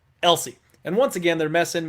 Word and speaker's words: Else: taking on cameron elsie i think you pronounce it elsie and once again they're